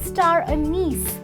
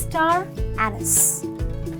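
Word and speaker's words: star anise: course the last one it’s not star a- niece its star ann-nis ok I really hope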